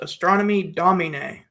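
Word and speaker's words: Astronomy Domine: It's in Latin. It's pronounced astronomy dominina.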